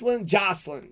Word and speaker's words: Jaclyn: Jaclyn, right? Jaclyn. You got to say it like Jocelyn. Jaclyn Casey Brown.